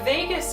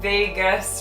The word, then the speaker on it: vagus: vagus nerve now the vagus nerve it's spelled v-a-g-u-s so it's vegas rather than las vegas um so the vagus